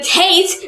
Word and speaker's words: Tet: talking about the taste the taste rhymes with lights and it makes the sound like in time the shot level of